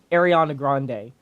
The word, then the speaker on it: Ariana Grande: it's going to be ariana grande or Ariana Grande I've heard it pronounced in both name both ways so is Ariana Grande's